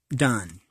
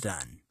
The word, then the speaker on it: Donne: triple fool by John Donne I believe it's pronounced done I am too fools